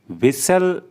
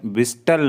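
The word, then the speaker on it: whistle: बजाना बैकन आंख मारना विसल में टी साइलेंट होता है इसलिए हम विस्टल नहीं पढ़ेंगे इसको हम पढ़ेंगे विसल गोटा जरूरी है हिक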